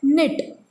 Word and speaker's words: knit: Then knit in this word, K is silent.